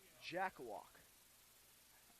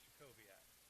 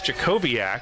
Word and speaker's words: Jacobiak: Reese Jackawalk. Jackawalk? I think it's Jacobiak. Jacobiak? Yeah. I think they put that in our pronunciation guide.